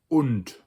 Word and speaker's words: und: And in German, it looks closer to the English, but it's spelled with a U, so it's und.